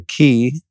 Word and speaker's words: Qi: uh we'll also put a link to the key device that's how you pronounce it right like once I get it